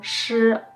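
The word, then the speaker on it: shi: remember is O, O, sh, O, shou. Okay, super easy. Ready? Shou, 手手手 And we end with a super easy one. S-H-I, the I is silent, so it's just sh, sh.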